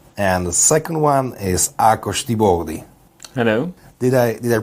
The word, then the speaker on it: Tiboldi: And the second one is Tiboldi. Hello. Did I pronounce it correctly?